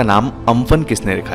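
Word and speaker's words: Amphan: इस साइक्लोन को इस तरह से प्रोनाउंस करते हैं, ठीक है, अम्फन।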